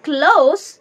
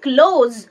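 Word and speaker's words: close: নত হওয়া, two bend, C-L-O-S-E. যখন উচ্চারণ হবে ক্লোজ তখন বোঝাবে কাছে, নিয়ার, কিন্তু যখন উচ্চারণ হবে ক্লোজ তখন বোঝাবে বন্ধ করা, শাট, শাট দ্য ডোর।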